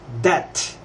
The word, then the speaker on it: debt: the united kingdom or the united states is pronounced death